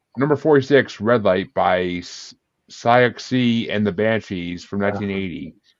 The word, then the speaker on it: Siouxsie: "Red Light" by Siouxsie and the Banshees from 1980. Susie.